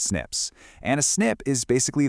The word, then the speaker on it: SNP: We just call them snips, pronounced snips.